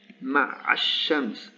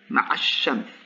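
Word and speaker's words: مع الشمس: Ma'ash-shams. And the only thing remaining of the definite article is the shadda. Ma'ash-shams.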